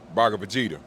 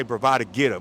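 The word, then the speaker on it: Bhagavad Gita: of the bravado geta bar Vegeta you say it like that the bar of Vegeta that's how you say it I I say bravado geta but yeah same thing so I read this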